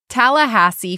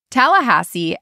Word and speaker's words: Tallahassee: Tallahassee, Florida. Tallahassee has a 24-story Capitol building, one of the tallest in the U.S.